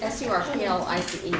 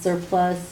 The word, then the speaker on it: surplice: S-U-R-P-L-I-C-E, right? Yes, S-U-R-P-L-I-C-E. Surplice, it's also, you hear it sometimes pronounced surplus or surplice.